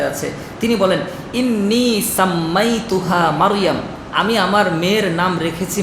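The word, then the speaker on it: مريم: মারিয়াম। বলেন শব্দটা কি? মারিয়াম। মারইয়াম। আমরা উচ্চারণ আবার ভুল করি, আমরা মরিয়ম বলি, ঠিক না? মরিয়ম, মরিয়ম না, শব্দ কি? মারইয়াম। মিম র জবর মার, ইয়ামিম জবর ইয়াম, মারইয়াম।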